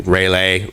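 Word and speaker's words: Railay: correctly either um because i believe i've heard seen it spelled r-a-i-l-a-y um which you know again and sort of the okay rai out rail like train rail and then a y let's say rayleigh yeah i get it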